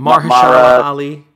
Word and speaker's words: Mahershala Ali: Best supporting actor is going to be, how do you pronounce his name from Moonlight? Mahershala Ali.